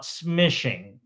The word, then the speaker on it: smishing: So, instead of calling SMS, we call it smishing. and it rhymes with fishing.